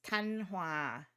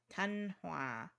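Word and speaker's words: Thanh Hóa: I can pronounce it because I'm Vietnamese. It's Thanh Hoa. Thanh Hoa. Thanh Hoa. Yeah, okay. So I knew the second one. I didn't know the first one. Because, like, sometimes the different asterisks and accents on it can change the pronunciation.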